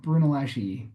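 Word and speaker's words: Brunelleschi: Brunoles Brun Brunolesi.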